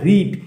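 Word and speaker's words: read: have রিড এর জায়গায় তাহলে কি হবে রেড উচ্চারণ হবে ইউ হ্যাভ ওই থার্ড ফর্মে না শুধু জাস্ট উচ্চারণটা একটু পাল্টে যায় বানান টান সব একই থাকে তাহলে সাপোজ ধরো ইউ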